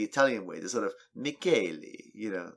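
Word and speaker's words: Michele: But she provided a clip to the Italian pronunciation of what looks like the spelling of Michelle. Michelle, yeah. And it's pronounced Mackelly.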